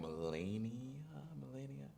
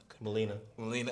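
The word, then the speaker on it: Mileena: As a matter of fact, I think Melania. I'm not sure you pronounce her name. Melina, thank you.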